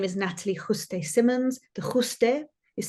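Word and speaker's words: Juste: full name is Natalie Jose Simmons is spelled j-u-s-t-e no one says it right the Spanish say Jose this English say just I've been called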